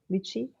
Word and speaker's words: lychee: Is that how you pronounce it? Lychee?